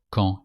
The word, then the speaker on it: quand: With when you have to say est-ce que after quand, and you have to pronounce the D of quand like a T.